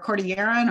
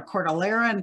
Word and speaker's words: Cordilleran: The middle bird is either a Pacific slope or a Cordilleran or Cordilleran, depending on how you want to pronounce that word.